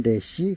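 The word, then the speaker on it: Resh: 레쉬.이 이 기억자처럼 생겼는데 레쉬라고 읽습니다. 레쉬 뜻은 머리입니다. 머리. 사람의 머리. 사람의 머리. 발음은 레시.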